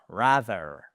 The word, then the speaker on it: rather: En anglais, on a un mot qui nous fait peur à nous francophones parce que on postillonne littéralement pour le prononcer. Il s'agit de rather.